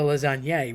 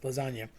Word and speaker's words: lasagne: So you want to eat the lasagne, really, but everybody says lasagna. And sometimes my mom has a bad habit of just cutting off the N, saying lasagne. Again, that GN is that sort of nyuk, nyuk, nyuk sound that's created by a tilde in Spanish and the GN in Italian.